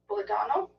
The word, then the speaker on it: Pulitano: People keep giving me names I can't pronounce. Dori Pulitano? Pulitano?